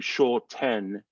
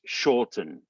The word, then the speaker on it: shorten: you'll notice that again the word shorten has two syllables the first syllable is is stress so you get more of that oh sound sure and then tin uh the t e n is the unstressed syllable you don't have to do shaw ten it's shortened it's almost like tn that's where that schwa or unstressed vowel is so you go